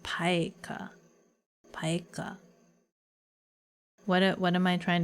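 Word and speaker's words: pica: Pronounced paika.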